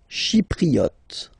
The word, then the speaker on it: chypriote: Chypriote. Remember this Y is pronounced like I.